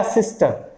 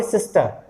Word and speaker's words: sister: तो ये हो जाएगा सिस्टर। मतलब मैं जो बोल रहा हूँ उसमें आर नहीं है, ये ध्यान रखिएगा। आप सिस्टर बोलते हैं, नहीं, सिस्टर प्रोनाउंस नहीं करना, इसको आप करेंगे सिस्टर। Father, mother, centre.